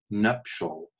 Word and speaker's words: nuptial: used to appear now you get it in a sort of phonetic form nuptial to make sure that you understand it's a two syllable word in this location again down here wither